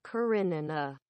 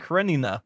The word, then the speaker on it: Karenina: karenina anna karenina yeah it's the knee the knee gives you the it's called it's like a diphthong and there's no y in that pronunciation well of course it's not a y there is the i but the i gives you the slides into the a and that's where you get the y from this guy is not